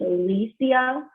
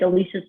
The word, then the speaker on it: Alicia: um like alicia keys i would say alicia like alicia silverstone it's alicia alicia so the clues are noted on tick tock everyone's going on tick tock to favor the right synopsis from the pronouns of their names apparently um but that's the way you say her first name so it's alicia silverstone